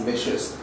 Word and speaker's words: Licious: It's quite delicious, a startup, and the name also is something which rhymes with delicious, and that's licious.